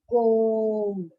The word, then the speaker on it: comb: So, B is silent. This is one silent letter. For comb, it is B, that is silent.